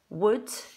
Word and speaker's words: would: So we've got k, d, could, w, d, would, and sh, d, should. You can notice that in each of them there's a l, and we don't make an l sound when we're reading.